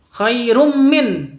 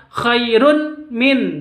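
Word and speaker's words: خير من: Mim itu hurufnya idgham bi gunnah. Cara bacanya ini idgham bi gunnah, masuk langsung ke mimnya. Bukan khairun min, bukan seperti itu, tapi bacanya langsung ke mim. Khairum seperti itu.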